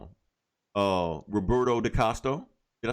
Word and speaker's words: DaCosta: Roberto DaCosta. Did I say it right? Oh, DaCosta.